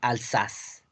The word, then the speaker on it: Alsace: En francés se pronuncia Alsace.